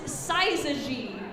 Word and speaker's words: syzygy: The word is syzygy.